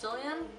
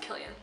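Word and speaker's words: Cillian: and Killian Murphy I thought his name was pronounced zillion Kasese can be pronounced as an S that no it's pronounced Killian I'm left out because of in the debut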